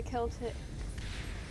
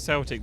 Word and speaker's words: Celtic: It's spelled Celtic, but it's said Celtic weirdly.